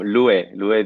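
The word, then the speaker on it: Lu'e: you very much um louis is my name that's the correct way to say it thank you for for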